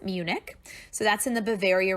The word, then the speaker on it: Munich: it circled down there it is spelled differently in German than we spell it in English keep it in English you pronounce it Munich so that's in the